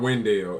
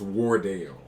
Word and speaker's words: Wardell: I said it wrong it's not window it's Wardell because that's actually Stephanie